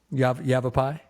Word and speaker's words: Yavapai: Yavapai.